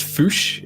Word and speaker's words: Fusch: It's actually pronounced Fusch. It's German. Foosh.